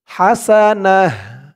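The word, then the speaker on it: حسنة: তো থামলে এখানে উচ্চারণটা হবে হাসানাহ, হাসানাহ। থামার কারণে এই তাটা হা হয়ে যাবে এবং তার উপরে 2 জবর তানবিন, এটা সাকিন হয়ে যাবে।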